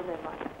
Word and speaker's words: Rehman: नाम है सैयद फवादुर रहमान। सैयद फवादुर रहमान। फवाद की स्पेलिंग बताएं।